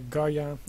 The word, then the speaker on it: Garja: streamed today and that is going to be garia garia how he wants to pronounce it versus CH uh it's going to